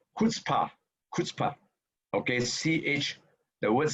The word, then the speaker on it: chutzpah: So this word is pronounced chutzpah, chutzpah. Okay, CH. The word C has no vowel in no pronunciation in Jew, in Hebrew. So it's pronounced chutzpah.